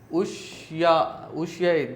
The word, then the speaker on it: Ushuaia: A boys from Ushuaia, this is the pronunciation.